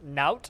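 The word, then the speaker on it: nowt: I just wouldn't know how to spell it, because I would write not, as in N-A-U-G-H-T, but if you're writing N-O-W-T but pronouncing it not, then yeah, I do understand how that would be used in a sentence.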